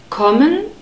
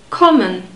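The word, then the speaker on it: kommen: and then the subject common contains an open Oh sound aw it's the same sound we have in morning but in german it's always a short sound common common Z you already know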